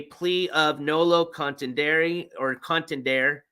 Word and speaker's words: contendere: of noo Contender or contendere I'm pronouncing the E because I think that's how you do it in Latin it's check mark plea